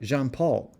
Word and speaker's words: Jean-Paul: Beanpole's real name, I learned, was not Jean-Paul, but Jean-Paul. Even those simple syllables took some mastering.